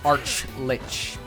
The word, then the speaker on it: Archlich: Archlich, with both pronounced like cheese. Oh, Archlich.